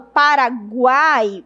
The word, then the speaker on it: Paraguai: Se eu for pronunciar, fica assim, ó. Para cuáai. Veja que o U é um pouco fraco, o I é um pouco fraco e o A é forte.